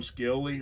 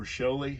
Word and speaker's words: Scioli: Tom Scioli, or Scioli, however you want to pronounce it, he did Godland for Image Comics, and a lot of other great other stuff.